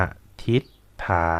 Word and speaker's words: อธิษฐาน: เลิศ เพลิน ตะไคร้ หอม อธิษฐาน คำ นี้ นะ ครับ อ่าน ว่า อ้ะ อธิษฐาน จะ กลัว ทำไม ค่ะ